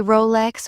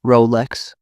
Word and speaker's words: Rolex: I've heard people say Rolex with a rolling R. The brand keeps it simple, Rolex.